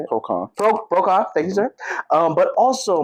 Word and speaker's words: PRocon: PRocon, thank you, sir.